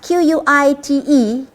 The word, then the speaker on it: quite: Q-U-I-T-E, quite, it is the quit with the E.